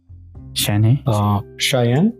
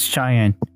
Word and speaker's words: Cheyenne: who's cheyenne ah 56 cheyenne in the thick of the 50s yeah i think that's pronounced cheyenne right like cheyenne cheyenne wyoming i think that's it